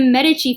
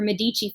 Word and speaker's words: Medici: this unit was the Medici family or Medici family. You see it pronounced both ways, who were a key banking family.